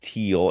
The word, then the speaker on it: Thiel: Fred did let us know that Thiel is pronounced teal, and believe it or not, I did know that. I just forgot. It's a German word. That's why you have to. It's a silent H.